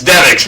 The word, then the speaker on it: Devix: That's actually you guys are some of the few people who kind of pronounce it. I was I'm pretty sure that it's Devix, but yeah.